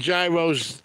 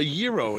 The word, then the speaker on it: gyro: these big Gyros they it's actually a a Euro ain't it not gyro they couldn't even finish one I'd wind up eating two of them isn't it pronounced Euro I don't know that's the way Greek say it I'm lucky I know